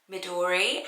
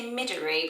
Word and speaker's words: Midori: would you say that would you say midairy but i was saying midori um how i'm saying it but it's a japanese name so really the pronunciation will change from around the world and it's a green